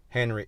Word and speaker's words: Henry: minister's name ariel henry henry it is pronounced in english however you know that them tag french creole french based on information it